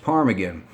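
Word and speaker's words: ptarmigan: the cranberry the state bird is the willow parm again as a silent T after the P it's pronounced parm again the state tree is the Sitka spruce the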